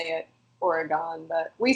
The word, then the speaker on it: Oregon: It's Oregon. Because I'm from Pennsylvania. We don't have the greatest of educations. Okay, here's one. I mean, I guess people might say it Oregon, but we say Oregon.